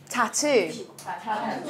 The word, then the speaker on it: tattoo: where the stress is tattoo two sounds stress is on the second tattoo I have a